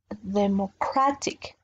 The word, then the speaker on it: democratic: My strength will be in this O, democracy, and democratic. My powerful intonation will be in this A, democracy, democratic.